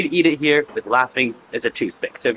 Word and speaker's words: laphing: Yes, it is like the laughing like haha laughing except it's not spelled exactly the same way. It's spelled L A P H I N G, but yet it's still called laughing.